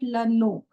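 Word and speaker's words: le nom: We call it leno. Here m is silent.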